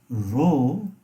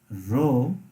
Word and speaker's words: rho: is a greek letter it's called row r h or rho that is the pronunciation of this greek letter let me just write down the pronunciation it is called row and this row is